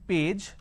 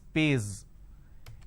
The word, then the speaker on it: page: So instead of saying page, they pronounce this as pays.